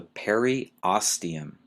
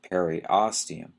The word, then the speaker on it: periosteum: this one might be a little hard to pronounce is the periosteum e-r-i-o-s-t-e-u-m the periosteum is the fibrous outer covering